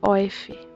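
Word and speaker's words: Aoife: o nome dela é oif se escreve IOF mas se fala oif né e ela é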